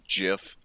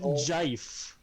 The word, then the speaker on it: GIF: twitter uh i'm just so glad you didn't say jiff i'm not a he well i am a heathen but i'm not a um it's pronounced jeif all right we're we're